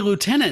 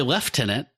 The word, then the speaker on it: lieutenant: But that's how we say lieutenant in America. You know, England, they say left tenant.